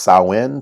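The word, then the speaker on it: Samhain: have evolved from an ancient celtic festival called saowin which was christianized by the early church pronounced sawin sawin is a gaelic word meaning end of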